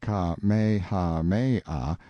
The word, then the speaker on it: Kamehameha: When Kamehameha, pronounced Ka-me-ha-me-ah, the Great, who was